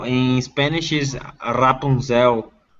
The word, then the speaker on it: Rapunzel: on fictional characters oh yeah in portuguese is hapunzel in spanish is rapunzel it's different the pronunciations are yeah that's exactly it you're welcome